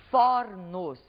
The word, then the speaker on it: fornos: vai acontecer Por exemplo quando fizermos o plural da palavra forno observem vocês que ao colocar essa palavra no plural nós teremos então fornos o mesmo vai acontecer